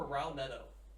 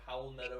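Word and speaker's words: Raúl Neto: Raul Neto or something like that. I think it's. I think it's Howell Neto. It Is it sounds Howell? like an H.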